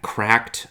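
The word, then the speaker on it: CRKD: I got this tiny little uh cracked um atom cracked controller. And cracked is spelled without any vowels. It's like C R K D. Cracked.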